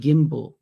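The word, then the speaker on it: gimble: Then make the G hard in the gyre and gimbal, and pronounce wrath to rhyme with bath.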